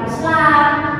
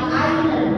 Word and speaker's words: island: Pulau bacanya bukan Islam tapi island.